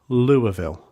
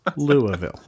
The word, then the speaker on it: Louisville: named after King Louis, but they pronounce it Louisville. It's Louisville. I was told that I need to correct it on the show, so here I am doing it.